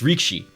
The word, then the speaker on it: rikishi: as as a um Rikishi or rikish God I can't even say it properly Rikishi got their name the wrestler got their name from sumo so it's reekshi um what you're supposed